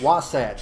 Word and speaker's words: Wasatch: Wasatch. It's it's kind of like Sasquatch. It's like Wasatch. All right, Utah's Wasatch Mountains.